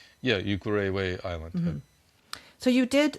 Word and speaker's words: Ukerewe: So this island, how you say it, Ukerewe? Yeah, Ukerewe Island.